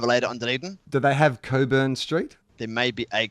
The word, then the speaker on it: Cockburn: the sea so I got a map and Coburn is spelt COC kb u RN so i was